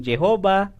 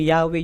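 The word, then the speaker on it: Yahweh: kaya bumangon ngayon yung Jehova yung ywa Jehova Jehova iba ibang pronunciation na pero basically sa ibang mga scholar yong yahwe yung pinakamalapit na pag tamang pronunciation po ng wikang ito at ito pong salitang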